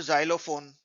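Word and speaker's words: xylophone: आसान हो जाता है और लास्ट का ई जो है ई वावेल इसका साइलेंट होता है तो वाई जो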